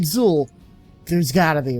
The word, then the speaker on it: Xul: was like all right with a name like zool Drew's gotta be right there has to be